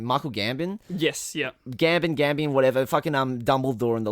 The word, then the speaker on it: Gambon: performance because he's played by how do you pronounce his name? Michael Gambon? Yes, yeah. Gambon, whatever.